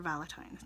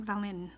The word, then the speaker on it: VaLITines: Anyway, so today I'm doing the video challenge for VaLITines. Now, VaLITines, not Valin. I keep sticking that N in there.